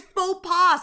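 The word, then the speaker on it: faux pas: Why is faux paw spelled with an X?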